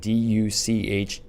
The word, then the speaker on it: Duchesne: So, but what was unique about Duchesne is how you pronounce it, Duchesne. Very interesting. It's a French name. Yep. But Duchesne, this little mini ranch